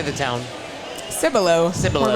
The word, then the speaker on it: Cibolo: Cibolo.